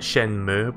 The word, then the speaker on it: Shenmue: Is it Shenmue or Shenmue? Like with emphasis on the letter U. I call it Shenmue, but I've heard both ways.